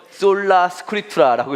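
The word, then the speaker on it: Sola Scriptura: 같이 읽자고 하면 좀 애매하죠? 솔라 스크립투라라고 읽습니다.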